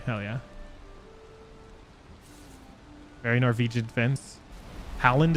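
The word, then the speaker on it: Haaland: Howland is how you say it, not Holland.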